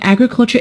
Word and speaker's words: agriculture: meaning of the word agriculture the word agriculture is a noun and it is stressed on the first syllable when we turn it